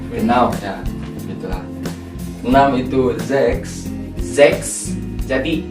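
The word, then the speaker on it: sechs: Ya gitulah en itu zex zex Jadi s-nya itu dibaca Z zex betul S CH ada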